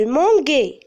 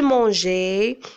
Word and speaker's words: mangeais: ajouter la terminaison ais comment je vais lire je m'engueille mais non c'est faux moi je dois prononcer le son j'ai alors pour prononcer le son g qu'est-ce que je dois faire je dois ajouter un noeud entre la lettre G et la terminaison ais et comme ça je vais dire je mangeais tu mangeais il mangeait